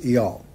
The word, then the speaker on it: El: ELR, or as most Americans pronounce my name, as Earl, which is an English title, and my name is not an English title, it is a name, and in the Akkadian and Sumerian context, it is pronounced as EL.